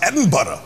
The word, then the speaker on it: Edinburgh: how is Edinburg it's spelled Edinburg but it's pronounced edinb it's because you were wearing a kilt the